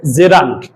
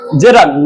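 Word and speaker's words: gerund: এই নাউনের যখন কাজ করবে তখন এই গোয়িংটা হয়ে যাবে জেরান্ড। গোয়িংটা তখন কি হয়ে যাবে? জেরান্ড, নট জিরান্ড। কি হবে? জেরান্ড।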